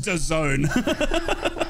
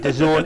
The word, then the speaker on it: DAZN: For anybody and normal, that's meant to be pronounced DAZN. Yeah. So anybody normal pronounce it DAZN. Do not pronounce it DAZN. It doesn't sound right.